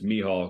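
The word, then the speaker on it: Michał: should just call him Michael like in in an English in America we'd call it Michael over there it's me hall because of the pronunciation in Polish right so you know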